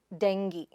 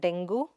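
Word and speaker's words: dengue: The next word id deng-ee. It is not dengoo or dengyu, but deng-ee.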